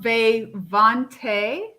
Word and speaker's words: Vay Vonte: we go hold on is it pronounced bae vonte yes okay just call you